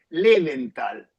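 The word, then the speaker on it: Löwenthal: Bueno, pu puedes decirlo medio nirish Levental. Ah, Levental. Okay. Levental sería pronunciado un poco así medio más hispanoidish sería tal.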